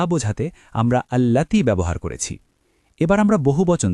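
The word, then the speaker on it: اللاتي: খেয়াল করবেন এখানে আল্লাতি শব্দটি একটু দীর্ঘ করে উচ্চারণ করতে হবে।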